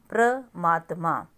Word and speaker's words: परमात्मा: आप बोल के देखो प्र मात्मा प्र अब यह प्र मात्मा हो गया वर्ड ठीक है ना लेकिन हमारा एग्जैक्ट वर्ड क्या है परमात्मा र के बाद मतलब पूरा र की साउंड है परमात्मा उसके बाद